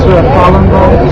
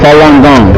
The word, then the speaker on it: Falun Gong: It's pronounced Falun Gong. Falun Gong.